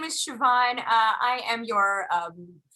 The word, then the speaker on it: Siobhan: don't my name is siobhan but it's pronounced it's an irish name it's very exciting so